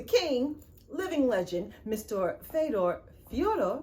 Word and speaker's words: Fedor: living legend mr fedor fiora because i just watched an interview and that's how you say it fiora emilia fiore emilienko i'm